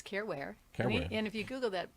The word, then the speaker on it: Caren Ware: more time here um Karen with the c c a r n i want you to care um is my last name w e so it Rhymes careware and if you Google